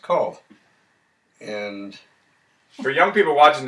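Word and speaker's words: Kahl: And their last name was spelled K-A-H-L, but pronounced Call.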